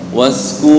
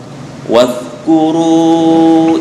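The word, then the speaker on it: واذكروا: Waskur. Nah, bukan was, itu sin banget itu. Wadhkuru bukan lu. Nah, wadhkuru nah bukan id wadhkuru id ja'alakum wadhkuru id ja'alakum wadhkuru iz ja'alakum khulafa'a min ba'di qaumi Nuh.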